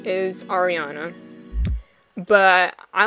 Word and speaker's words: Ariana: just letting you know this is how you say ariana it's not ariel it's not ariana no no no okay it's ariana see i don't know